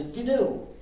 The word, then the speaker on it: GNU: but it still is G so please pronounce it g uh there's however there's